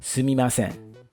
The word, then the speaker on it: Sumimasen: Sumimasen. Pronounced sumimasen.